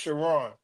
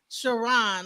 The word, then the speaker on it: Chron: like it looks like K but it's it's pronounced shiron shiron okay wow so all right so you went